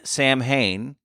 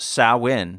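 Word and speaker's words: Samhain: it comes from a tradition in Ireland that is spelled Sam Hayne but it's actually pronounced sawin yesh did you know that I did well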